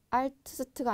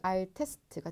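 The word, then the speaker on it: älteste: 자, 알트 그리고 엘터 마지막은 알트스트가 아니라 그렇죠. 알테스트가 되겠습니다.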